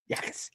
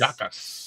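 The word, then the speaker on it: Jacas: Yakis. Yakis. Yakas. Yakas. It's a no J. All right. Jay is silent, brother.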